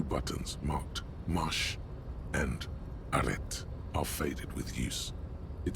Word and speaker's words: arrêt: Marche, arrêt. Working, stopping. Marche. On. Arrête. Off. You don't need to pronounce the T.